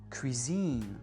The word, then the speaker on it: cuisine: Mais quand on emprunte un mot français en anglais, on va vraiment accentuer sur la dernière syllabe. Par exemple, machine ou cuisine, élite.